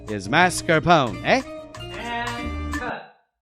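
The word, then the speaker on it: mascarpone: If your waiter tells you that they use Mars Capone, well, there is no such thing. He's trying to impress you for tips. The correct pronunciation is mascarone.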